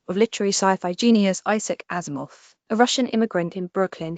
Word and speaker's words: Asimov: 1920 Wikipdia Commons Azimoff pronounced as he described it like Asimov was nothing short of a prodigy writing far